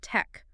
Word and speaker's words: TeX: That's pronounced tech, rhyming with bletch.